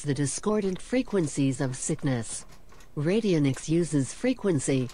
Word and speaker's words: radionics: Albert Abrams radio Nick's you can't even pronounce it right I mean I may not be for this stuff but at least give him the courtesy to pronounce it right it's called radionics 1864 to 1924 who